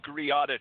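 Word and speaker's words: Greada: yeah it's called the griata treaty it's kind of like the name of the island in the caribbean grenada but it's spelled griata and it was basically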